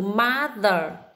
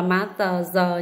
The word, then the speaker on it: mother: Thứ tư đó là từ mother, cái âm giờ này, con chú ý cho cô là mother, không đọc là má tờ giờ nhé, mother.